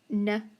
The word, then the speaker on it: know: underline the k n the k is silent then what else do we have no now listen though no